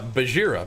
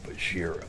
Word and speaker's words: Bajheera: How to, Bajheera is how I pronounce it. But you gotta say it like Bajheera.